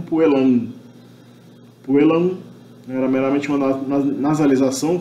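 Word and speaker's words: puellam: pronunciado, mesmo na antiguidade, esse M era pronunciado meramente como uma nasalização da vogal precedente. Então, puelam, provavelmente já Júlio César pronunciava isso meramente como puelam.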